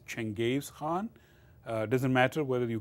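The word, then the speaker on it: Genghis Khan: but no connection Hey European pronounce his first name as Genghis but his real pronunciation is Chang Games Han doesn't matter whether you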